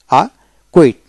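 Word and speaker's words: acquit: উচ্চারণ হবে না তারপরে শব্দের মধ্যে কিউ এর পূর্বে সি থাকলে কিউর উচ্চারণ হয় না তবে শব্দের সংখ্যা খুবই কম আ কুট আ কুট এ সি ইউ আইটি কুট অতে ক কিউতে ক উচ্চারিত হয় সেজন্য উচ্চারণ হবে আ মানে এখানে সির উচ্চারণ সাইলেন্ট থাকবে কুইট আ কুইট এভাবে তবে আকয়ার আকয়ার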